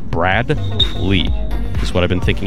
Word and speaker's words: Bradley: our regular fans on the potential mispronunciation of Bradley as Braglee with a G. And I've been concentrating. In fact, I've been breaking the name in half. Brad Lee.